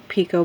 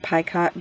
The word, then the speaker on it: picot: you how to do this crowned pico border or pie cut border depending on how you pronounce it um normally you would